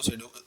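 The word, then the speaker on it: pseudo: पी से लिखते हैं लेकिन पी साइलेंट है, उसको सूडो जो है ना सूडो एलिमेंट कहते हैं, सूडो क्लासेस कहते हैं, ठीक है।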